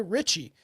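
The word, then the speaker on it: Ricci: It's Christina Richie. That's how people say R I CI.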